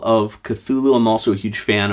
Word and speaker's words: Cthulhu: pronunciation, and I realize it is technically pronounced Cthulhu, but that's like unpronounceable by human throats. So I'm just going to stick with Cthulhu so everybody knows what I'm talking about.